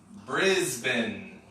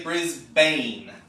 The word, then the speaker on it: Brisbane: other major cities is Brisbane so again you might be tempted to say Brisbane but the locals say Brisbane or in the theme